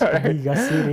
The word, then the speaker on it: Gaciri: It's Gaciri.